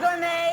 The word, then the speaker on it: Gorme: Well, it rhymes. See, it's Eydie Gorme and Mel Torme.